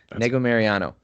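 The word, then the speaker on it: Negumereanu: Negu Mariano.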